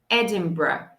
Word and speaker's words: Edinburgh: Então, nós vamos falar Edinburgh. Edinburgh. Edinburgh. Então, é bem diferente de como é que está escrito. O R vem logo depois do B na pronúncia.